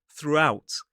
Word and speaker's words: throughout: Now, I will say between the oo at the end of the first syllable and the ow at the start of the second, we add a little sound a little w sound to make that to make the transition a little bit easier.